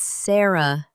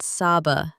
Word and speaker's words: Sarah: It's Sarah, not Saba.